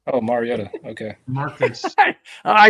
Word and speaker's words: Mariota: Yeah, Marty. Oh, Mariota. Okay. Marcus. I butchered that name, didn't I?